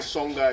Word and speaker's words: Songhai: Mais en Chine, c'est Shanghai. Mais ici, c'est Songhai. Et Songhai... Ça s'écrit pareil. Oui, ça s'écrit pareil. Avant, ça s'écrit pareil. Non, l'autre c'est A. L'autre c'est A. Ici c'est O. Songhai.